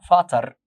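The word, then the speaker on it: Vater: فازر اللي هو الاب، هنا بنقول فاتر.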